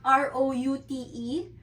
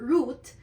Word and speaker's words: route: root Iyung root na r o u t e can be pronounced as route or root for this mnemonics gagamitin